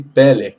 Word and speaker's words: Pele: Aleph, nós leremos então Pele, pronuncia-se Pele, maravilhoso.